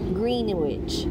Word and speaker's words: Greenwich: Greenwich.